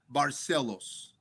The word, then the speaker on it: Barcelos: Uh Hony Barcelos or you can say Barcelo.